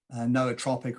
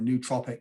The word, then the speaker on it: nootropic: outlining the basics so what is a noah tropic or a nootropic i think there are different pronunciations yeah so nootropic uh derives